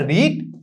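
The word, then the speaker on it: read: তো হচ্ছে রিড, রেড, রেড, আমরা হচ্ছে রিড মানে কি পড়া, পাস্ট টেন্সে উচ্চারণ করি কি রিড, রেড, রেড।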